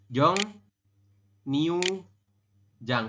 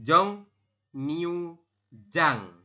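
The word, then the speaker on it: 정류장: belum Jong new Jang Kenapa jadi Jong new Jang mas karena yang bertemu di depannya ada huruf N betul ya karena yang di akhir ya bertemu dengan huruf ri real maka R berubah bunyi menjadi huruf N huruf n seperti itu ini ya yabun membacanya seperti ini Jong newu Jang seperti itu Sampai sini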